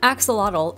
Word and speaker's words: axolotl: The name axolotl is not English in origin, so when we pronounce it axolotl, that's technically not how it was said at first. Here's the original pronunciation of this word. Axolotl.